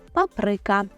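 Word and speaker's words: papryka: Паприка це болгарський перець правильно наголошуємо на и Паприка і не плутаємо слово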